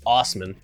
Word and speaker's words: Assman: I can't think of an actor to compare him to, but his birth name is Dave Assman, or he pronounces it Osman.